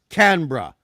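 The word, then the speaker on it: Canberra: the canar is the bur and it's not pronounced but flows saying C canbera is more can can no that's true it's canra canra canra canra so c h sorry c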